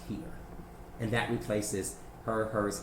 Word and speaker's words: hir: It's HIR, but it's pronounced here.